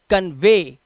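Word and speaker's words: convey: पढ़ते हैं दे देखा इसी तरह से इसे पढ़ते हैं कन्वे क्या पढ़ते हैं कन्वे लास्ट में ए का साउंड सर्वे दे कन्वे ए तो यानी कि आपको वी और टीटीएच के बाद अगर ई वाई दिखाई देता है तो आपको साउंड ए का निकालना होगा और इसी के साथ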